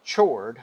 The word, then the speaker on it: chord: And it's spelled chord, right? We pronounce it chord.